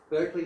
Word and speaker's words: Berkeley: And I also want to thank Berkeley Nest Agencies, which is pronounced Barclay Nest Agencies, for allowing us to use their fabulous location.